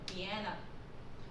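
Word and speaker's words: Vienna: 그렇지만 이걸 영어로 발음을 할 때는요, 비엔나, 우리 비엔나 소시지 그러면 이제 굉장히 친숙하지 않습니까? 그런데 이제 영어로 이걸 발음을 할 때는 비엔나라고 발음을 합니다.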